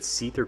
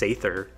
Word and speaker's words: Seether: feel any better like my dad thinks that Seether cords pronounced sather oh your parents know